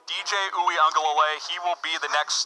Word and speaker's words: Uiagalelei: I know how to pronounce that guy's name. DJ Uiagalelei. Remember the name. DJ Uiagalelei.